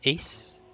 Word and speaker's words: EHZX: You can pronounce it as Ace, like how you pronounce AC, the Ace.